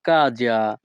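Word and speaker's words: casa: এখন আমাদেরকে বলতে হবে ফুজিরে বাড়ি যাও ভাইয়া কাজা এখানে এস এ এর উচ্চারণ হবে যা ইতালিয়ান ভাষা ভাইয়া কাজা বাংলা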